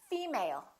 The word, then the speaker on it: female: my new colleague let's look at the next one did you say female or did you say female once again it's the first one female let's look at the